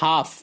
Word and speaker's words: half: HALF half L silent half نصف آدھا.